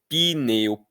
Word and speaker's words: pneu: vêm do grego, etc., ninguém pronuncia mais isso, a gente pronuncia pineu, piterodáilo, pissoríase.